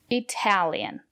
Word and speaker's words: Italian: Italian. The syllable after the letter T is stressed. We pronounce the letter T as T.